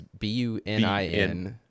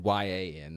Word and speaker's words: Bunyan: Paul Bunyan, but okay, I definitely spelled his name wrong. It's Bunin, and it's definitely not Bunyan.